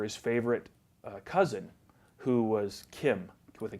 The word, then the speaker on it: Cim: time uh it's it's people call it Sim phonetically that's the way it is supposed to be pronounced I guess but my parents called me Kim and they named me Kim